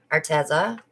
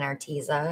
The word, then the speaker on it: Arteza: started my channel i was an affiliate for arteza but everybody was saying arteza and i was like no it's arteza but